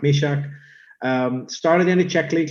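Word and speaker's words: Myšák: things about him yeah um i heard canadians pronounce his name as young maiseck yeah that's how i would if i didn't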